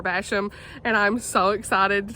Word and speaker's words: Basham: by pepper basham and i've been saying her name wrong i finally figured out how to say it so it's pepper basham and i'm so excited